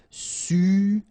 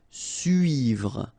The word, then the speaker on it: suivre: Okay, so this can be quite tricky for the English-speaking persons, because normally this U sound is quite tricky to make at the beginning. After that you can see that, well, you can make it, but then try to focus on it.